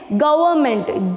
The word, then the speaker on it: government: e d rewarded next government g o v e r n m e n t government here n here this n is silent okay g o v